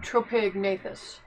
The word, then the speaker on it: Tropignathus: That Lucolio, Chibi Tropignathus. Okay. And then I got... The G is silent, by the way. Okay. Tropignathus. Okay.